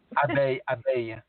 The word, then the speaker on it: abeille: Abeille. Abeille. ABEILLES, and it's to be pronounced abeille.